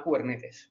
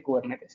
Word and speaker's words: Kubernetes: Lo que sí que no consiento es que la gente diga mal Kubernetes, porque Kubernetes tengo muy claro cómo se dice, y se dice Kubernetes, que viene del griego y quiere decir, es el timonel, el tío que conduce el barco, ¿vale?